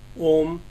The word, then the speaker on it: om: to be very simple the word om has to be pronounced as oh further Krishna says pranayam